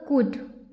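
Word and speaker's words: could: एल डी से होगा कुड क्या होगा कुड यहां पर एल क्या है साइलेंट है इसे हम कुड पढ़ेंगे नॉट ये हो जाएगा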